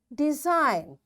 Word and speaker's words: design: n these examples are design now after g n is there so we don't pronounce this g this is silent foreign sign align resign